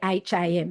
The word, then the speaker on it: Fackham: It's actually spelled F-A-C-K. Fackham, Fackham Hall. Yes. Or it might not be HAM, it might be just AM, but Yeah. they mispronounce it all the time and go, fuck 'em all.